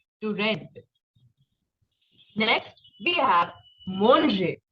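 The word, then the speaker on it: manger: red next we have monje not mange no that pronunciation is for English but in French we have to eat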